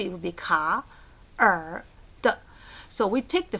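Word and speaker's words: 卡: So we picked ka. 3rd tone, down, up. Ka.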